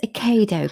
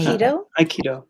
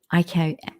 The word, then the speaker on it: Aikido: um so where does a kado come into this so Mark you do it is that how I pronounce it right okay Aikido Aikido so how did you get